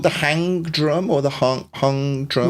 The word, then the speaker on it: Hang: want to mispronounce it is it called the hang drum or the hung drum yeah it's spelled Hank but pronounced Hong okay not a drum that's why we call